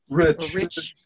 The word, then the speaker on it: Reich: And so the land that he has apparently has his farm buildings on is at 61 Reich. Am I pronouncing that right? Reich? Rich Road. R-E-I-C-H Road. Rich Road.